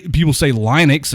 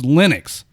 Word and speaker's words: Linux: No, he's not, because people say Linux, and it's not Linux. It's Linux, because Linus Torvalds is the one that.